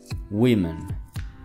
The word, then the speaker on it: women: Aquí tal vez no saben dónde va el sonido, pero el sonido va al principio. We. Women.